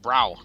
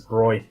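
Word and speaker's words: Bräu: find a bigger one why don't you assume that br a with the umlaut u is pronounced brow nah it's broy right huh yeah learn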